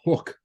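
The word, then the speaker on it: Huk: Apparently it's pronounced hook, Hook. but it's spelled H-U-K, so I'm fucking saying Huck.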